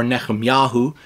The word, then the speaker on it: Nehemiah: Okay, now, the proper or closer to proper way to say this in Hebrew would be Nehemiah or Nehemiahu. But we often hear it in English as Nehemiah, but it is chapter 2 and verse 13.